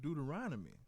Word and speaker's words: Deuteronomy: It's pronounced Deuteronomy.